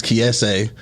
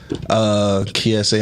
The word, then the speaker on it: Kiese: It's spelled like Keith, but I think it's Kiese. Kiese.